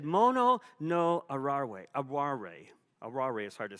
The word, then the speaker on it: aware: And I said, well, how do you spell that? He says, Aware. I said, aware? He says, arare. He says, not aware.